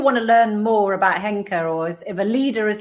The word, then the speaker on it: Henka: Well, listen carefully, because Henka has so many different spellings depending on how you hear it. So listen carefully. Henka is spelled H as in hotel, E as in echo, N as in November, K as in kilo, that's the key one, and then A is in alpha. So Henka, Henka.